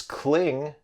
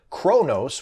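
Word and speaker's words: Qo'noS: of the Klingon homeworld might think it's cling but it's actually Chronos which is spelled like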